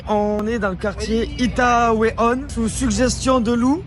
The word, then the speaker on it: Itaewon: Bon, les amis, on est dans le quartier Itaewon, sous suggestion de Lou.